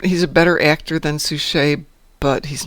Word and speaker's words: Suchet: David Suchet? Is that how you pronounce Yeah. it? Suchet? Suchet.